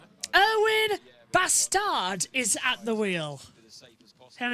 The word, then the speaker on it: Bastard: Yeah, that's going to be really hard because it's spelled, as you can see, B-A-S-T-A-R-D, but it's not pronounced how it is. It's Erwan Bastard.